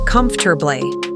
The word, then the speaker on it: comfortable: are pronounced for instance words like comfortable are rarely pronounced as they're written in fast speech it's more like comfortably if you've never heard